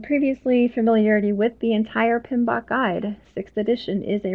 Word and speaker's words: PMBOK: and it is abbreviated pm be okay and pronounced pmbok typically is how people refer to it so